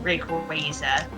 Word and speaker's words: Rayquaza: That is the official pronunciation, Rayquaza.